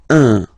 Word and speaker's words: un: without any doubt, but you've got to pronounce it like un. So it's what we call the nasal, so it goes in your nose. Okay, un. So if you listen to me, you don't hear any N.